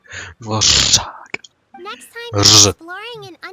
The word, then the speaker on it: Dvořák: Ty charaktery anglicky mluvící se snažit vyslovit ř je bude pro mě lehoulince vtipný prostě konstantně vždycky, když se o to pokusí. Dvorek? Dvořák.